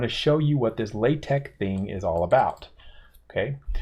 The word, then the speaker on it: LaTeX: but it's actually pronounced the x is actually pronounced as a k so it's latex latex source for this file